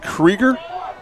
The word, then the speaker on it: Krieger: Spells his last name the same way I do, but he pronounces it Krieger, the old German pronunciation.